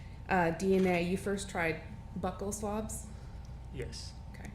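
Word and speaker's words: buccal: DNA you first tried Buckle swabs yes okay I learned today they're pronounced Buckle not bu um but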